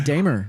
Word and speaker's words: Dehmer: Pronounce it. Dehmer. That's me, brother. Dehmer, right? Dehmer.